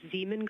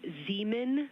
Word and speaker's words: Zeeman: Integrity Science, we believe that's Zeeman Crater. Oh, I floated away from the speaker. Say it again, please. We believe that that is Zeeman Crater. Zeeman.